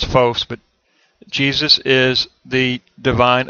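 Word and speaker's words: φῶς: That's a long O there, so it's phos, but Jesus is the divine illumination of the truth.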